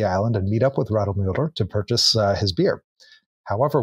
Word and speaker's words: Radelmüller: gentleman named John Paul Radlmüller, is I believe how you pronounce it from the German. So Radlmüller allegedly kept a stock